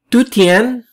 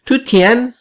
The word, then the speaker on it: Dujuan: not the right pronunciation since it's a chinese name so it means it must be pronounced as tuttien okay so it means